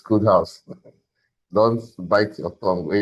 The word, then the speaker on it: KodeHauz: So it's pronounced KodeHauz, right? Because a lot of people have called KodeHauz and everything. Please, it's KodeHauz.